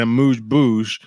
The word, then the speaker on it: amuse-bouche: please understand that they will serve you an amuse-bouche, which is not a real thing.